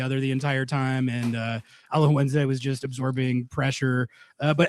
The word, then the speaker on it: Alajuelense: Alajuelense?